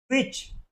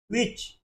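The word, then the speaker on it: which: डब्ल्यू एच का उच्चारण होगा व आई का ई, सी एच का च। इसका उच्चारण क्या हो जाएगा? विच। क्या हो जाएगा? विच।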